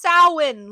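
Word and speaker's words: Samhain: It's pronounced SOW-an, Loomis.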